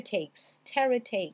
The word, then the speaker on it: takes: Terror takes, voyez? Terror takes. Donc ici on a un son A. Takes, le E ici ne se prononce pas.